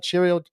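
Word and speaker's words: Chourio: And the first one we're seeing here is Shirio. Did I say it right? Shirio, Jackson Shirio, Yep, right?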